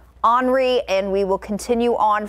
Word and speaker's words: Henri: This is going to be Henri. So not Henry, Henri.